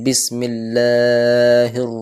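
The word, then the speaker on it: بِسْمِ اللّٰهِ: আলিফ টান রাখবো শুধু আর কেউ কেউ বিসমিল্লাহকে বিকে বে উচ্চারণ করে বিসমিল্লাহ তো কাসরা অর্থাৎ জের আনতে হবে ক্লিয়ারলি বিসমিল্লাহির রাহমানির রাহিম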